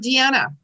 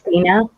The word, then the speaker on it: Deanna: So, okay, what about Deanna? Deanna, Deana. Deanna. It's Dina. Oh, Dina, I'm sorry.